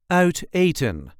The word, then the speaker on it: uit eten: There is a light emphasis on the first syllable of the second word. Outan outon outan outen.